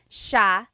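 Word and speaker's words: siya: talking about and then just a note about pronunciation it's Sha Sha the s iy combination makes the Sha sound in theog some regions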